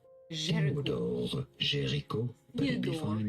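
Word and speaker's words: Théodore Géricault: In French, in France, it is said as Theodore Gericault. Theodore Gericault, but it'd be fine in English to say it as...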